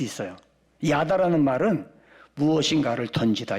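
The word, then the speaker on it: ידה: 감사라는 말은 히브리어로 야다라고 그래. 야다. 한번 해볼까요? 야다.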